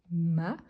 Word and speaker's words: m'a: singulier on a donc m apostrophe a ou as la prononciation c'est toujours ma mais ça signifie qu'il